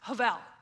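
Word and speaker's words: הֶבֶל: One of the words that's repeated in Ecclesiastes is havel. It looks like Habel, H-E-B-E-L. It's a Hebrew word, but it's actually pronounced havel. I'm probably not saying exactly right, but it sounds like a V sound.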